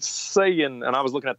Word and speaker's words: Saiyan: whatever he's like yeah we call him Saiyans it's just sayin and I was looking at the I in there going that doesn't look like saying to me but I